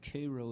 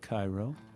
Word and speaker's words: Cairo: And sticking with the love theme and it always not working out, a little song about the town of Cairo, Illinois, which is spelled like Cairo.